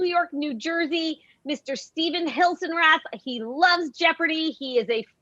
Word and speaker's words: Hilsenrath: What's the appropriate pronunciation of your last name? Hilsenrath. Hilsenrath.